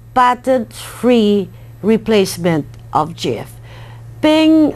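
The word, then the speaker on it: PNG: free replacement of GF ping which is commonly pronounced as ping stands for portable Network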